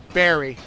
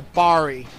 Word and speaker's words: Bari: are known as the berry and yeah barry or the bari if you want to pronounce it like that and they've appeared in